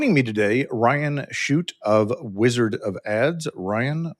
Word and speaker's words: Chute: Joining me today, Ryan Shute of Wizard of Ads.